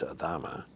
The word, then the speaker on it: Adama: in any way but adama when you pronounce it correctly it's adama it's uh it's very latin and when i'll never